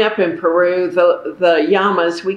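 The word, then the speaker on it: llamas: in peru the the yamas we call them yamas in spanish two l's are pronounced like a y um they were just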